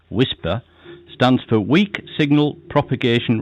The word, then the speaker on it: WSPR: fairly high level wsp pronounced whisper stands for weak signal